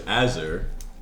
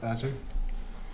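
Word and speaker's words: Azurek: My character's name is Azur, and they would be at the tavern because Friday nights with the boys. How do you spell Azur? A Z U R E K. The K is silent.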